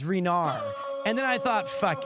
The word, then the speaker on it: Rainier: I thought it was Rainier. Then I was told it was Rainier. And then I heard it was Renar.